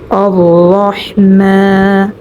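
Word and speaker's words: الرحمن: যেমন আর রাহমান আর রাহমানির রাহিম।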